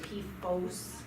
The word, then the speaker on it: PFOS: family when i you when you hear people say p foes they're generally saying pfos i will spell it